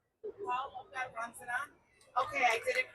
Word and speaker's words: Lobga Rangzen: I wanted to make sure that I'm honoring her name and pronouncing it correctly so you feel free to correct. Lobga Rangzen.